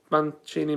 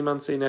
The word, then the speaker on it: Mancini: his name there's a there's a guy who sells guitars around the corner called man mancini which is spelt the same way so i think it's manchini because i think it's